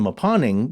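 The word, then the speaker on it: Mponeng: the deepest mine in the world is the maponing gold mine in south africa and that is spelled m-p-o-n-e-n-g and uh i think that was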